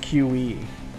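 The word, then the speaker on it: Cui: It's spelled C-U-I. But it's pronounced QE.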